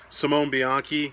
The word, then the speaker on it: Simone Bianchi: Simone Bianchi, that is how you say it.